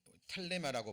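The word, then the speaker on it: θέλημα: 자, 원어 성경에서는 텔레마라고 발음이 됩니다.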